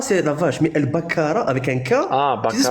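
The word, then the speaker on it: البقرة: bien comme il faut c'est pas al bakara c'est bakara tu sais ce que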